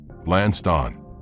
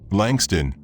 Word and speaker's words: Langston: He pronounced it wrong, stretching it deliberately. Lancon. Langston rose stiffly. Langston, he corrected quietly.